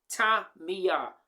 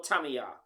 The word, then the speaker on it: Tamiya: But according to the Japanese pronunciation, the words must have three distinctive syllables. Tamiya or Tamiya.